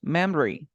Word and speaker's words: memory: Memory, Okay, 2 syllables. Memory. Mem. Re. You do it? memory. Exactly. Mem, and then you say re.